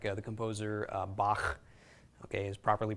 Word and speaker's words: Bach: you'll hear it in German like the composer Bach okay is properly pronounced that way some Hebrew words Konica also